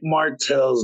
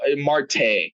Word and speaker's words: Marte: I did not check martel's numbers from yesterday so Marte come on get it right at least at least pronounce the guy's name right Martel Marte it doesn't [ __